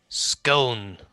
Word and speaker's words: Scone: and Scone. Yeah, but you don't have to say it like that. Scone. Just don't emphasize the O. Just it's quick.